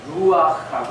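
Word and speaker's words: רוח: 히브리어로 바람, 이 루아흐라고 합니다. 루아흐. 조금 그 목을 긁어야 돼요.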